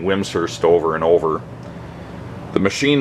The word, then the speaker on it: Wimshurst: By the way, whimsurst is pronounced whims like to rhyme with hims and hurst. Some people pronounced it whimurst and that is incorrect.